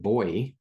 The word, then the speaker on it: buoy: I just did a a session with some folks in Australia, everyone, and they pronounce it boy.